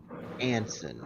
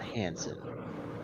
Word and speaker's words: Anson: that's your hands it's it's actually pronounced Anson not Hansen there's no h uh oh you may